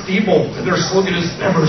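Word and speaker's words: Diebold: inally I don't know I'm fond of saying dbol because I want these people to die but it's actually pronounced deol their slogan is Never say die so how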